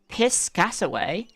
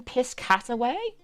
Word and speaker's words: Piscataway: Piss Cataway. Wait, the White House is in Piscataway. Am I mispronouncing this?